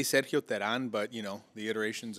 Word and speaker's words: Teran: uh I say Sergio Teran but you know the iterations of of it have evolved being uh yeah American yeah it's never a huge people say Duran I have to say Tehran right yeah yeah you